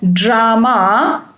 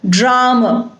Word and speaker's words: drama: And it is not drama but drama. And not father but father.